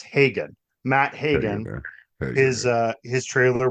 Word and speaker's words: Hagen: actor I okay I've always pronounced his name as Haun but it's Hagen Matt Hagen is his